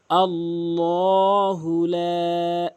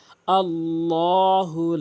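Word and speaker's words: ٱللَّهُ: আল্লাহুলা এখানে অধিকশল আল্লাহু বলে আল্লাহু কখনোই বলবেন না আল্লাহ বলবেন ল কোথায় বলতে হয় যখন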